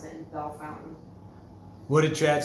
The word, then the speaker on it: Bellefontaine: Well, what's Bellefontaine pronounced? Bellefontaine. Bellefountain. It's Bellefontaine. So. I don't care how they pronounce it, Bell Fountain.